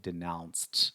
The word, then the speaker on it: denounced: is Den denouncement denouncement when you use the verb denounce in the past form the Prenos changes a little bit so we pronounce it denounced with a sound at the very end as a dangerous right